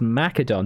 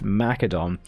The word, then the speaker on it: Macedon: and I thought I'd jump into it as Macedon. That's right, I can pronounce it properly. It's Macedon.